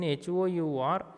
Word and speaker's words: hour: In HOUR, H is silent.